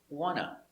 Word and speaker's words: want to: do we say wanna because nt between two vowels the t is muted wanna i wanna go i wanna eat now this is pronunciation you don't write this you always write want to but you pronounce wanna i wanna go